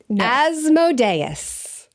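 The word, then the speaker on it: Asmodeus: a very educational porn trailer that it's not pronounced as modius yes it is I refuse to it's asmodus evidently asmodus yeah apparently one of the Demons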